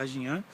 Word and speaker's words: Ajna: Então, eu vou falar agora do chakra Ajna, ou Ajnan, né? Pode ser pronunciado Ajnan em sânscrito.